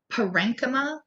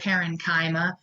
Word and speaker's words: parenchyma: words because they're not, it looks like parenchyma. You can say parenchyma, it's not wrong, but parenchyma is a better way.